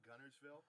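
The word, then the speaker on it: Guntersville: And we pronounce it like Gunnersville.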